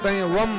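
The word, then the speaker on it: वं: मंत्र वकार ब्रह्म बीज वम वम वम वम बीज मंत्र हम भले बम बम क लेकिन वास्तविक उच्चारण वम वम वम उच्चारण वम बम अब बम बम ठीक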